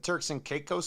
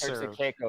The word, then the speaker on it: Turks and Caicos: Turks and Caicos. Turks and Caicos. Was it, like Turks and Caicos. Turks and Caicos, or are we saying it wrong? It's not Caicos, is it? It sounds so weird.